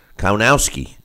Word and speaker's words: Kownacki: Kownacki is how you say it, Kownacki. It's spelled like Konaki, but Kownacki is how they were saying it.